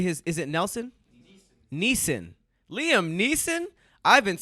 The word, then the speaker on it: Liam Neeson: I always say his is it Nelson Neeson Liam Neeson I've been saying Liam Nielsen's taking one his name wrong before it was kalief Browder so I